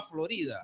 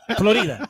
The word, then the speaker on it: Florida: Carlos Olivos desde Tampa Florida ya es Florida Florida en inglés y Florida en español Ah okay Florida tiene el acento en la primera sílaba ahora Recuerda una cosa